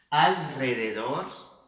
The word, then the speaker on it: alrededor: Mas no espanhol a gente precisa fazer esse som, tá? E é um som um pouquinho mais leve. Então, olha só, observa. Caro, alrededor, tá vendo que aqui